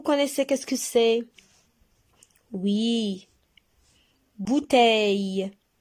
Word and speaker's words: bouteille: Bouteille. Bouteille. Le. Bouteille. Le. Alors, on a 3 syllabes. Et regardez, on a double consonne. LL. Alors, on sépare les deux. D'accord? C'est pour cela qu'on a 3 syllabes.